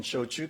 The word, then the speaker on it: shochu: Doing business as American Shochu Company, we became the first and only genuine shochu distillery in North America right here in Maryland. Shochu, which is pronounced like trade show, Chewbacca, is the other traditional Japanese spirit, the not sake.